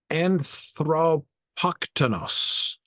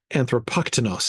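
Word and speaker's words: ἀνθρωποκτόνος: Anthropoktonos is how I want to pronounce it, but the accent tells me I'm doing that wrong. Anthropoktonos sounds more clinical, like just one who kills a man and less charged.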